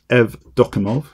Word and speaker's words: Evdokimov: I always get this surname wrong, but it's Evdokimov, Alexei Evdokimov.